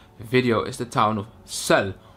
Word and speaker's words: Celles: is the town of Celle, or as the Dutch people like to say, Celles. We like to pronounce the S.